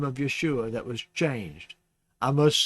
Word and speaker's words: Yeshua: the most difficult to translate and impossible to pronounce correctly in Greek therefore we lost the sound of yeshua's name in Greek translation we do however learn